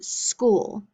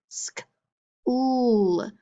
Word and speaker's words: school: It's only 1 syllable, but listen to but it has 2 O's, so 2 vowels, but listen to the sounds. Sk, ool. That O makes 1 sound.